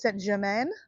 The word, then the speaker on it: Saint-Germain: area in Paris called Saint-Germain. And my pronunciation is not very good, right, guys? But it's spelled German, Germanine, something like that. But it's Saint-Germain.